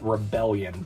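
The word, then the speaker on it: Rebel-Lion: the Beast Bashers, the Rebel Lion, or as it's spelled, Rebellion, but it's pronounced Rebel Lion uh because of the hyphen.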